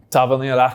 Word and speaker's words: Tavernier: Tavernier.